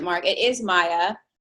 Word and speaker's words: Maye: It is Maya.